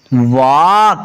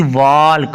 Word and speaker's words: walk: तो WALK वॉक, ना कि वॉल्क।